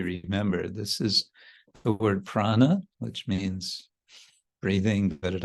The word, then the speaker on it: Prana: this is the word Prana which means breathing but it also means life and it's a little bit stretched out with one syllable to make it Parana instead of Prana Gala left it's gone